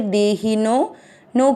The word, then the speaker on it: देहिनो: पहला चरण दे ही की मात्रा छोटी है, दे ही नो के बाद में अवग्रह, आपको नो की मात्रा को लंबा खींचना है, दे ही नो।